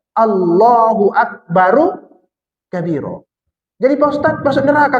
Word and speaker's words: Allahu Akbaru kabiro: Jadi ketika baca takbir pun terbaca dia Allahu Akbar kabiro. Salah itu. Itu rohnya itu dibaca bar kalau berhenti. Tapi kalau dilanjut dengan kabiro, hidupkan dia balik. Berarti cara bacanya Allahu Akbaru kabiro.